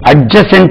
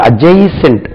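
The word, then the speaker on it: adjacent: 50 வேர்ட்ஸ்க்கு மேல இருக்கு டிக்கு பக்கத்தில் ஜே வந்தாலும் சரி ஜி வந்தாலும் சரி டி உச்சரிக்க கூடாது ஓகே காமன்லி யூ கேன்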